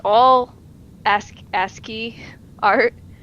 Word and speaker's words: ASCII: is it I see I was pronouncing Essie ASCII McGee and he's just it's ASCII though ASCII ASCII well it's a